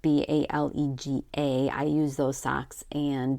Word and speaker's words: Balega: I use Balaga. I think that's how you say it, Balega.